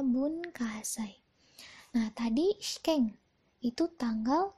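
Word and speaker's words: 文化祭: masih inget Hai Nah bunkasai bunkasai bunkasai ya dibacanya bunkasai Nah tadi scan itu tanggal yetangga bulan 12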